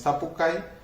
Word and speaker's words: sapucay: Entonces, en la palabra sapucay, como la ven allí, el acento va sobre la A, y mientras que la I se pronuncia brevemente y además es átona. Entonces, sapucay, esta I acompaña a